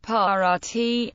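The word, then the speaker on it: paard: the historically original consonant therefore a word may be written with a letter for a voice consonant at the end of a word but still be pronounced with a voiceless consonant have HP have but Heaven HB to have p a a r d par T horse but pardon par d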